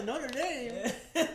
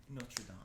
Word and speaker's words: Notre Dame: I was really surprised by Notre Dame. Alright, let me pronounce it correctly. Notre Dame.